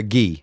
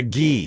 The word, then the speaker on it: gi: and and a t-shirt did I say it wrong a Jud did what what did I call it a it's a ghee oh it's a ghee uhuh I took karate